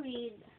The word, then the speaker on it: read: Itong read, parehas po ng spelling, pero pag nag-pronounce ka ng past tense niya, read.